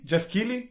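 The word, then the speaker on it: Keighley: by Jeff KY NE sorry key key Jeff key yeah is that how you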